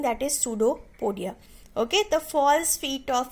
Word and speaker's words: pseudopodia: Now last definition is there, which is pseudopodia. Okay, pseudopodia is connected with the amoeba. Okay, amoeba is having false feet like structure is known as pseudopodia. You seems that in this spelling the P is silent.